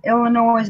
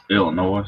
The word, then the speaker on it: Illinois: my wife is from Illinois by birth and she gets mad with people pronounces the S at the end the S at the end of what Illinois Illinois Oh oh sorry